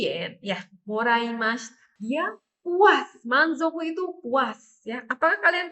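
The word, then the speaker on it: 満足: mendapatkan bonus 10.000 yen ya morim dia puas manzoku itu puas ya apakah kalian puas kalau mendapat bonus 10.000 Ibu ya enggak?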